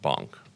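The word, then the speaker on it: Bonck: So, and it's pronounced Bonk.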